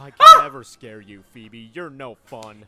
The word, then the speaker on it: Phoebe: Elite Four, which was Phoebe, the Ghost-type trainer, whose name I always used to pronounce Foe when I was little because I was just that dumb.